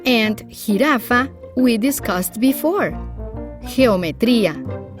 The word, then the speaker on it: geometría: Geometría, jirafa. There is no U in between, so you pronounce it like an H in English.